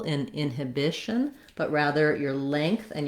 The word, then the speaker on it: inhibition: different syllable stress pattern so in inhibition it's the bi bish syllable that gets the stress which means even though i still have um the same spelling and um the same letters this one i definitely think of as more of a schwa this hib instead of the long stressed it turns into more of a ha inhibition or it can also be an inhibition um i think just